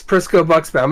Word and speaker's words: Prisco-Buxbaum: Yes, Prisco-Buxbaum. It surprisingly sounds just like it's spelled, but it is probably the longest last name you've seen, so.